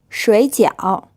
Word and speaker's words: 水饺: 结婚水饺 This word is pronounced with two third tones. So as always, the first syllable becomes a second tone, and this means dumplings. Try saying it again. 水饺红酒 This means red wine.